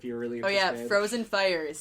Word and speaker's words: PHROZYNFYRE: like an ask and like, oh my god, I just realized it's pronounced Frozen Fire, and I'm like, Yeah.